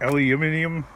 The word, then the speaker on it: aluminium: Aluminum and how the heck do the British say it? Aluminium? Not making fun, I'm just like it's not just an accent, it's like an entirely different way of like saying it.